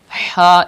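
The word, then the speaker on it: حاء: And ha is pronounced from the middle part, like that. Ha.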